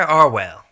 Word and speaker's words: Arwhale: Pinky's free candy van by arwell that's the real pronunciation he told me pronunciation Twilight ran her